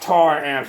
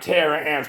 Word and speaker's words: Taramp: to tell me it's it's pronounced tar amps not Terra amps tar amps Terra amps